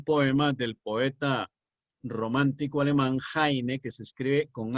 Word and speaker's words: Heine: basándose en un poema del poeta romántico alemán Heine, que se escribe con H, Heine.